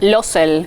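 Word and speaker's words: Laussel: Es la diosa de Losel, así se la conoce. ¿Cómo es? De Losel. Losel. Sí. Pronunciación de francés mediante, ¿no? O sea, es francés.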